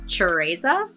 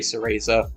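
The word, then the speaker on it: Cereza: of the little girl her name is chesa cuz it's Italian sesa well they they uh the games got it wrong then because they always say Sera CH well they don't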